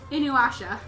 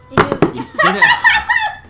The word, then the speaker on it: Inuyasha: in you right in your new you know Inuyasha Inuyasha not you not you let's just answer the